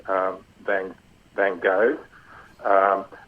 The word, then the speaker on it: Van Gogh: it's just something the the correct is Van go you did the girl